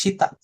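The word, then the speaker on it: 下: Artinya bacanya sita.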